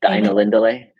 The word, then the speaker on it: Ainulindalë: Um which you pronounce so beautifully. I'll get you to do that again. Music of the Ainulindalë Thank you.